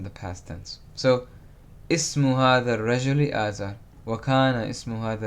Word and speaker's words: هذا: This, هذا. Notice I'm saying ha, it's as if there's an alif next to the ha. It's not written, but it's pronounced.